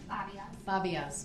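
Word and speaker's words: Babiasz: name b-a-b-i-a -s-z videos what's your last name fabios all right thank you you are the witness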